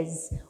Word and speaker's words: is: essa ideia de she is. Uma coisa legal, olha a pronúncia desse IS, apesar de ter esse S, o som é de Z, então é um Z sound, então é is, e